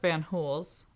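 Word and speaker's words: Fanjul: So now we go off to Central Romana plantations, and it's pronounced Van Hools.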